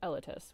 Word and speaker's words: Zelotus: You see, Chronoluminaire pronounces it Elatis. But Sunkitten pronounces it Elitis. Whereas I pronounce it Elatis, which is, after all, the correct way.